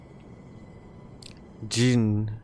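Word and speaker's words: Djinn: Jin. The Dijin. You know, let's just say the D is silent because that is a trap I fall for often.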